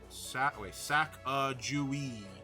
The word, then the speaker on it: Sacagawea: And then the other one, which is the Sachagawa. Yeah. Sachagawa. Sacagawea. Yeah, it doesn't sound the way it's spelled.